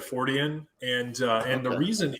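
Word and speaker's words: Fortean: just thought you know if you turn that into an adjective or something then you would say his name and then just add the suffix to it so fortion i think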